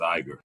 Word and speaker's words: Iger: They are acquired by the Disney CEO Bob Iger is a I think it's Iger. It is Iger.